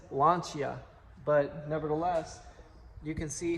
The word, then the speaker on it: Lancia: But back here, we actually have a Lancia Fluvia, which, believe it or not, the correct way to say that is Lancia.